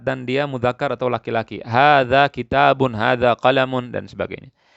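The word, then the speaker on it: هذا: Hadza artinya ini. Ini haknya tidak panjang, tapi bacanya panjang, tulisannya tidak panjang.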